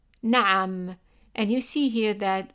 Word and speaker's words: na'am: And you see here that we have number 3, and remember that we used number 3 to represent the ayn, which is like a vowel, like pronouncing an English vowel while tightening the throat.